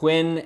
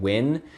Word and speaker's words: Nguyen: right and number five on the list is win and playing now I know I said that a little fast but it's actually pretty easy to say throwback to number one whenever you were saying win Wayne just add a little bit of Stewie